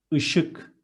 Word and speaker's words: Işık: And the next one is, it's a thick E. We are going to read it as I. Işık.